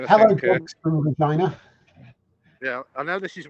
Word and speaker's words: Regina: It's Regina.